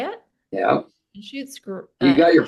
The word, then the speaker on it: Anschutz: Anschutz. You got your pronunciations down today.